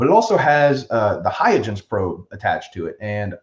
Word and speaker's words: Huygens: i'm pronouncing that right it's like a dutch named after a dutch scientist i think but that was a probe that we could i think it's i've heard i've heard huygens huygens okay i'll take